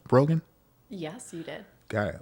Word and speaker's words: Brogan: Hi, Did I pronounce that correctly? Brogan?